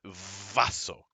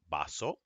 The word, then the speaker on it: vaso: It's not vaso. Say it like a little B, like me. Oh, just let me get some water. All right, this is pronounced baso, vinagre, vender.